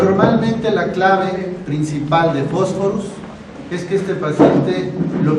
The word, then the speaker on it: Phosphorus: La pH en latín se pronuncia F, por eso no decimos Phosphorus, sino Phosphorus.